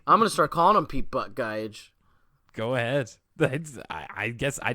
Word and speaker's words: Buttigieg: I thought it was Butt Geig. I've been wondering how to say his last name forever, and it just looks like Butt Geig to me. How do you say it? Buttigieg.